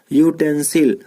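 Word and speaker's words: utensil: लेकिन अगर प्रोनाउंसिएशन की बात की जाए तो यहाँ यू, यहाँ पे क्या होगा यूटेंसिल।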